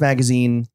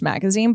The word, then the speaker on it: Magasin: the podcast so your newsletter your substack magazine pronounced magazine written magazon um what do you write about